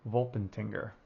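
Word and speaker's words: Wolpertinger: And for our elite, we have a Volpentinger.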